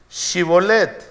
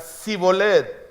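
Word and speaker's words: Shibboleth: no Entonces le decían Bueno ahora pues di chibolet y él decía siboleth porque no podía pronunciarlo correctamente un asunto de dialectos de lengua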